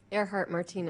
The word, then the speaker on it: Ehrhardt-Martinez: Karen Ehrhardt-Martinez, did I say it right? Ehrhardt-Martinez.